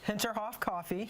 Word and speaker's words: Hinterhof: Hinterhof, am I saying it right? Hinterhof coffee.